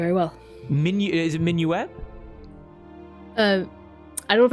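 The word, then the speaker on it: Minuit: a bit more very well Min is it minuette uh I don't know if I'm pronouncing it right uh m i n UI T Min Min okay got it minu what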